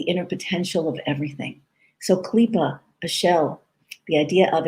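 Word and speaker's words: klipah: concept that kabbalah calls clipa the word is spelled k-l-i-p-a-h in english k-l-i-p-a-h clipa klipa literally means a shell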